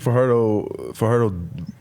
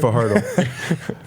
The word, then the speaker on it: Fajardo: Yeah, I said Fajardo. According to McCullough. So it's Fajardo. He's still saying Fajardo? Well, how about after this we go for some fajitas? No, it's Fajardo.